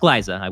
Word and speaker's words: Glaza: It is pronounced Glyza. We did get a confirmation on that.